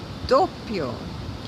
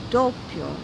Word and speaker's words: doppio: One of them is the word doppio, or as people in the US like to say, doppio. It is not doppio. Doppio. That's 3 syllables. This is a 2-syllable word.